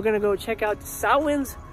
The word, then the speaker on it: Samhain: to go check out sahwan's lot also known as samhain for those who mispronounce it before i forget at